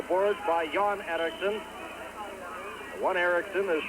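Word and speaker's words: Erixon: squeezed along the boards by john erickson one erickson is spelled with an x e-r-i-x-o-n and uh the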